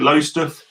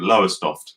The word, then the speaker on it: Lowestoft: Lowestoft. I got told off when I first moved to Suffolk for calling it Lowestoft because that's how we call it in Essex.